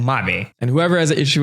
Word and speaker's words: Mabe: ruthless in the comments I'm gonna pronounce it Marin and mommy and whoever has an